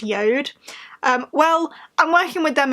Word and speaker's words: JORD: watch company that looks like it should be pronounced George but is deaf we pronounced yode well I'm working with them again and I'm